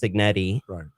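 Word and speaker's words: Cignetti: It's a lot harder to actually find the Kurt Signetti, however you say his name.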